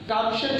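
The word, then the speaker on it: Thomson: तो बोहर कहो या बोर कहो, देखिए टॉम्सन कहीं लिखा होता है, कहीं थॉम्सन लिखा होता है। चाहे थॉम्सन पढ़ो चाहे टॉम्सन पढ़ो, दोनों सेम है।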